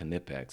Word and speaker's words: Knipex: some canipex and wow and yes it is pronounced knit packs it should be knit packs but it's knipex